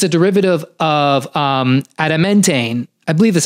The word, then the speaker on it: adamantane: And Bromantane itself, it's a derivative of adamantane.